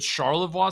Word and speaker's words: Charlevoix: us a bit about the the is it Charlevoix silica project how do you pronounce that yep that's correct got it right